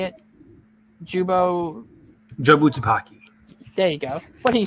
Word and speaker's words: Jobu Tupaki: Jobu Tupaki.